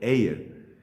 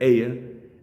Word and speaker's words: Ayer: Hoy vamos a hablar de un pedagogo y filósofo británico llamado Alfred Ayer. Se escribe su apellido como el día ayer, así se escribe, pero pues lo pronunciamos distinto.